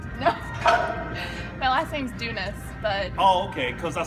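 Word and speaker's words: Doonis: that's your last name no my last name's dunis but oh okay cuz I saw your Instagram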